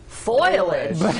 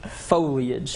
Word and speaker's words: foliage: what do you say i used to say foliage foilage well i know that i just did a story on it though so i had to really make sure i pronounced it foliage okay but then more